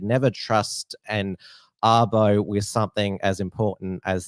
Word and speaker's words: Abo: said never trust and arbo with something as important as that now the way that sarah arbo's name is spelled it sounds like avo which is a shortened name for australian aboriginal and so many uh